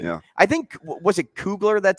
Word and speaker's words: Kugler: Why is there so many syllables? In Kugler or yeah, it's just Kugler, isn't it?